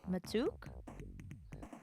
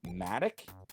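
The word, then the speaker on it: mattock: mailbox then we're dead apparently it's pronounced Matic and it refers to like a pickaxe type object oh and when I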